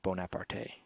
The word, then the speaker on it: Bonaparte: their last two choices Bonaparte no that's not I say there's no Accent on the E no there's not there's